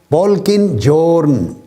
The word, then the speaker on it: Polkinghorne: ماہر طبیعیات، موجودہ دور کا نامور سائنسدان، جان پولکن جورن. یہ اس کا سپیلنگ ہے POLKINGHORNE، جان پولکن جورن.